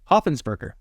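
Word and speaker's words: Hopfensperger: Hoppensperger. Oh, that's easy. Yeah, it's like 4 syllables, Worcestershire.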